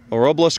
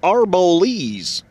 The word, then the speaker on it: Arboles: left uh the old ghost town of uh robles colorado oh shoot mister don't you know it's pronounced arbolese shoot so anyway uh we're down here let's